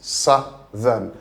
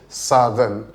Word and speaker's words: southern: No, the word is southern, southern. Then the t h there is the sound, not t or d, southern or southern or no, it is southern.